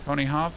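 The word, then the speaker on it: Ponyhof: My name is pronounced pony hoff like a pony farm just in German.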